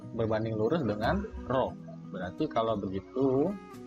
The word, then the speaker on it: rho: Kalau ini bacanya rho.